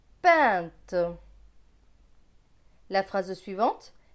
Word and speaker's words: peinte: P avec EIN, EIN c'est un, P et un, pain. T et E, te. Donc ce mot va se lire peinte, peinte.